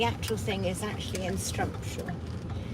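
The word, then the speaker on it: Strumpshaw: So the next one to here is at Strumpshire, or Strumpshire, however you wish to pronounce it. Locally it is called a Strumpshire.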